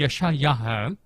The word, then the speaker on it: यशायाह: यशायाह, और खैर इसे अलग अलग तरीके से उच्चारण करते हैं, लेकिन ये है यशायाह।